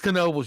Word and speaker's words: Knoebels: Oh, but it's not nobles, it's knoebels, you dickhead.